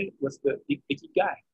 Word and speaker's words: ikigai: What's the ikigai? Ikigai.